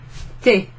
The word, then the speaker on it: t'es: So instead of saying tu es, you say te, te, te. You put an apostrophe where the u is, make abbreviated it to tes, and then pronounce it te.